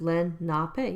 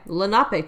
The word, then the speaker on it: Lenape: of moonlake were members of the pronounced Lenape yeah Lenape tribe uh one of the